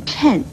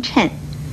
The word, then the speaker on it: 谶: 的预言，而谶字的国语注音呢是吃摁谶，四声谶，所以谶语也不要念成了或谶语，请您要多注意。